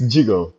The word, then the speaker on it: Djigo: Yeah, it's jig like jig jig just like you pronounce it pronunciate it when you read it in French.